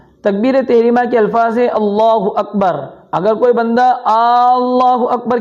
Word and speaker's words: اللہ اکبر: تحریمہ کے الفاظ ہے اللہ اکبر۔ اگر کوئی بندہ اللہ اکبر کہتا ہے، اللہ کے حمزہ کو کھینچتا ہے، یا اللہ اکبر کہتا ہے، اکبر کے با کے بعد الف بڑھاتا ہے، تو اس صورت میں